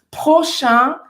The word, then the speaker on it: prochain: Prochain train. Aqui é um som que é mais nasal do que o nosso A com tio em português, tá?